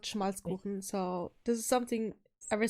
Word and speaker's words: Schmalzkuchen: It's called Schmalzkuchen. So this is something ever since as a kid we used to get there in Hamburg. It's pronounce this. Schmalzkuchen.